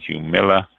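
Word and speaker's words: Jumilla: a product of spain so the j is pronounced as a j-u-m-i-l-l-a humila uh you see it says translations jumeila uh from the why i destroyed that for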